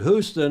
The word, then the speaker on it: Houston: not hust you know in New York that street is pronounced hust also incorrectly incorrectly you pronounce it Houston and we say Houston the city down in Texas says Houston our sailing Illustrated fosy